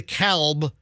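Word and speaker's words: DeKalb: Well, because I I think in Georgia it is the Calb. No, D. The Calb County in Georgia, but in Illinois it's the cab. I don't think you pronounce the uh the L.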